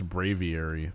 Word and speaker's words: Braviary: Brav- Have I been pronouncing this thing wrong? I could have sworn it was Brave- I think it's Braviary. That's what it's That's what it is.